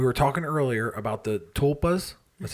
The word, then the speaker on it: tulpa: So we were talking earlier about the tulpas. That's how we pronounce it, tulpa.